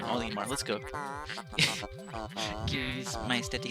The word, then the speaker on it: Olimar: Olimar, let's go.